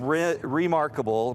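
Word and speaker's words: Rimarkable: long time to come so this is called remarkable but the way it's spelled is r-i-m remarkable r-i-m okay and it's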